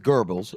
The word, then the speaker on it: Goebbels: It's Joseph Goebbels, first of all, is who he's trying to reference. So he's got the name wrong for as a student of history as he is.